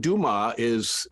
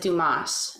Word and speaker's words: Dumaa: My birth certificate spells it Dumas. But most people pronounce it Dumas, and that always drove me crazy. And so just to make sure that didn't happen, it's like, let's just spell it differently. So now everyone pronounces it the right way. Right. It's spelled like it sounds.